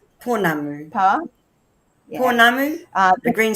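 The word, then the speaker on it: pounamu: How's that pronounced? Ponamu.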